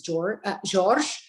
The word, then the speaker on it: Jorge: So the proper pronunciation of my last name is George, but I use George all the time.